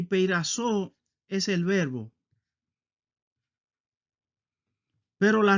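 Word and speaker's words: πειράζω: Así se escribe en griego y así se pronuncia. Peirasmos es el sustantivo y peirazo es el verbo.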